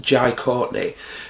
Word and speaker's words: Jai Courtney: Now, the plot of number 5 basically follows John McClane's son, played by, I believe his name's pronounced Jai Courtney, who's over in Russia doing some spy shit,